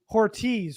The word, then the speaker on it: Hortiz: for what it's worth apparently it's hortiz rhymes with Ortiz Ortiz okay I stand corrected